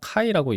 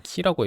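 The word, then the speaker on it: χ: 근데 이제 보통 우리가 카이라고 얘기하는 거 같은데 어 왠지 모르겠는데 그 사전 찾아보면 표준국어 대사전에서는 키라고 읽더군요. 근데 그 이유가 뭐냐면 아마 그리스 발음은 키여서 그럴 거예요.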